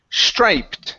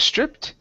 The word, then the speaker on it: striped: All right, let's go to striped instead of stripped. A big big striped box. A big striped box. There you go. Yeah. Stripped would have two P's.